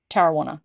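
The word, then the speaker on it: Tarrawanna: brewery it's in Tarana which is spelled t a r a w a n a pronounced Tana you can have a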